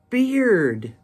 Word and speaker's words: bear: When you add the D, it makes the B-E-A-R change pronunciation from bear with a long A to beard with a long E.